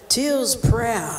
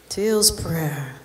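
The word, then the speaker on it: Teal's Prairie: a little area called Teal's Prayer. It's spelled prairie, but we say prayer where I'm from. Teal's Prayer.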